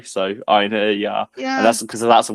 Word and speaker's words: Einherjar: Well, first of all, I pronounce it Last Einherjar. So, I break break break it down to three syllables and then the silent J. So, Einherjar.